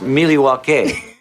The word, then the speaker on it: Milwaukee: far not in the milwaukee area or any of the surrounding areas that i know of i don't think we have actually it's pronounced miliwake meaning the good light it's coming it's algonquin